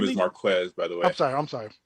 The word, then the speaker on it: Marquez: of names over the years that we have mispronounced for some time well the name is Marquez by the way I'm sorry I'm sorry yeah